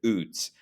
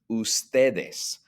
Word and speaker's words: ustedes: That does not mean pronounce it UDS. It's pronounced ustedes, just like the word written there in the circle.